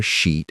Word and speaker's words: sheet: But if you mispronounce that long e sound, it comes out as a word that is very much not appropriate for a classroom.